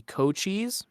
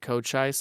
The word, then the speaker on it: Cochise: my own theme would be Cochise as I think how it's pronounced c-o-c-h-i-s-e um I used to mispronounce it coach ice I think for the longest time but that song's just